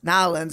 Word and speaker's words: New Orleans: New Orleans years ago, and I had a tour guide said it's Nolens, and you try to say it like as close as you can within one syllable. So it's like Nolens, Nolens, Nolens. That's but Nolens. Like, I think that's how the locals say it.